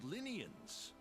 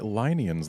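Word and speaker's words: Lynian: Well, I specialize in small creatures called Linians. And I've been pronouncing it Linians the whole time. Like, feline. But sure, Linians.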